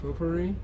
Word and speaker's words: potpourri: know smoking pop po puree how do you pronounce that potpourri potpourri yeah right like to smoke potpourri like can